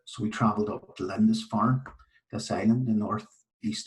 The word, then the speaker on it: Lindisfarne: Aidan and then the island of, it's Lindisfarne. Is that how you say it? Lindisfarne.